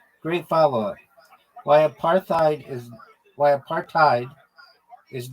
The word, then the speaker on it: apartheid: partid is not pronounced aparthadid because it's not an English word originally it comes from Africans And in that language, hide is pronounced like hate or height, not head or id.